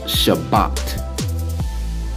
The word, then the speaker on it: Shabbat: S-H-A, S-H-A, that's sha, B-A, that's ba, ta, T-A, Shabbat.